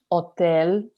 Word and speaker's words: hotel: Then, well, of course, hotel, the word is the same, just mind the slightly different pronunciation. The H in Spanish is silent always, so it's hotel.